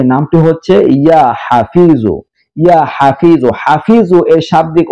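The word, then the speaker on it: يا حفيظ: যে আছে সেই জ, ইয়া হাফিজু, এটি হলো আরবি উচ্চারণ, ইয়া হাফিজু, ইয়া হাফিজু।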